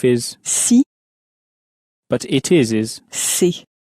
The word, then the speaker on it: c'est: The if sounds a bit more like the sea that you would swim in, a little bit like that, but shorter. And the it is sounds a bit more like the English word say, but it's not pronounced as clearly as that. But that's the difference. One veers more towards see and the other towards say.